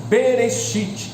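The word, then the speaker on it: בראשית: do hebraico idioma hebraico que em hebraico se pronuncia bereshit perecit traduzido para o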